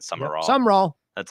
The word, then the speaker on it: Sumrall: Please let Corey know that the Tulane coach is Sumrall, not Summerall. He is pronouncing his last name with 2 A's, not one.